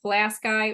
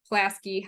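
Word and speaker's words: Pulaski: Some people like Plasky or Plasky, however you want to pronounce it. I've heard both ways.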